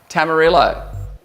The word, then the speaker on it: tamarillo: Rhymes with armadillo. Tamarillo.